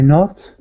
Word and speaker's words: knot: you tie it ty not ty not okay and that's spelled like this knot k n o t